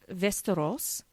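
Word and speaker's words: Västerås: the family mov to vestos sounds like Westeros that's what I was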